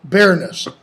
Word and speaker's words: bareness: Yeah, bareness. If he had another word with only 2 syllables, like everywhere were 2 syllables, you would have to pronounce it barrenness, which could change the meaning quite a bit.